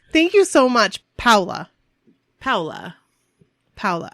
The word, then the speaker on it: Paola: Paola. I always want to say I hope that's right. Paola, but that is totally not how you say it. Like Crayola? But it's Paola. Paola.